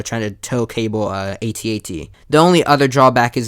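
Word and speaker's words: AT-AT: when you think of atat is how to pronounce it atat and then it's snow speeders this way you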